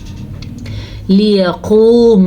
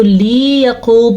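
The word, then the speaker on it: ليقوم: لیقوم الناس، پھر سے لام زیر لی ہی پڑھنا ہے، اس کو لمبا نہیں کرنا. اگر اس کو لی یقوم پڑھا تو پھر یہ غلط ہو جائے گا.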